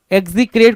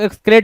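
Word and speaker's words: execrate: एग्जीक्रेट कुछ लोग पढ़ेंगे, कुछ लोग एक्सक्रेट बोलेंगे, दोनों सही है।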